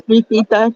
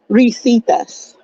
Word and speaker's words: Risitas: It's Risitas, but I don't expect you to pronounce it correctly. That's fine. Sorry, say that again. Risitas. Risitas. Okay, thank you for correcting me. No, it's fine. It's Spanish.